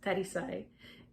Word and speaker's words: Tarisai: And the only reason I know that it's pronounced Tarisai is because I listened to the audiobook while I read.